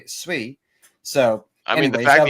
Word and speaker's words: Sui: So pith or I don't know if I'm even saying it right because you think you're saying sooie right until you find out it's sui.